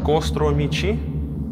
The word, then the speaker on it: костромичи: Костромичи. Костромичи, да. Костромичи. Не костромчане. Костромич, костромичка, костромичи. И нужно на О ударение сделать обязательно.